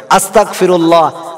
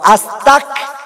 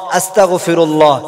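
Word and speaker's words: أستغفر الله: আস্তাগফিরুল্লাহ আস্তাক আমরা কাফ উচ্চারণ করি, তারপরে কাফ উচ্চারণ করি, এখানে কাফ নয় গয়েন উচ্চারণ হবে, আস্তাগফিরুল্লাহ আস্তাগফিরুল্লাহ, যেখানে হবে গয়েন সেখানে আমরা কাফ উচ্চারণ করি আস্তাক বলি, এটা ভুল।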